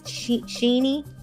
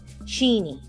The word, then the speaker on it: Sheni: They said I was um saying Cheni's name wrong. So, it's Sheni. Sheni.